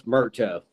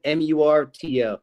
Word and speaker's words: Murto: It's Murto. Like when you see it, it's Murto. It's just Murto.